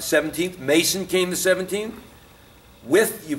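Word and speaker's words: Wythe: With, you pronounce his name with.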